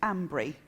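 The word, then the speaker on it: Almondbury: in a place called almond Bree which the locals pronounce Ambry it has nothing to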